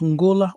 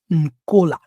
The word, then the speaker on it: Angola: Angola can be pronounced Angola or Nkola.